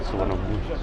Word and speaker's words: Suvarnabhumi: It is very difficult to pronounce the name of this airport. As far as Suvarnabhumi International Airport. Finally got it, Suvarnabhumi International Airport.